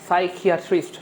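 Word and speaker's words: psychiatrist: বিশেষজ্ঞ মনোরোগ বিশেষজ্ঞ মনোরোগ বিশেষজ্ঞ ইংরেজি হচ্ছে ভাইয়া সাইকিয়া ট্রিস্ট সাইকিয়া ট্রিস্ট সাইকিয়া ট্রিস্ট সাইকিয়া সাইকিয়া ট্রিস্ট সাইকিয়া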